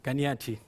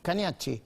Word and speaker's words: Cagnacci: para comprender lo que Camilo Cañashi, ¿cómo se pronuncia finalmente? Cañas. Caniach, Caniach.